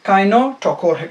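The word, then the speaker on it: kinetochore: कानो टोकोर ठीक है बहरहाल स्पेलिंग जिस तरह भी है कानो टोकोर इसका कहा जाता है ये जो प्रोटीन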